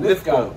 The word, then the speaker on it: Lythgoe: What is it? Lythgoe? No, lythgoe. Lythgoe. You said it right, mate.